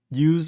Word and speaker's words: use: is this is this use as a noun so the S is voiceless I like that um pronounced like the noun the S is voiceless I like how you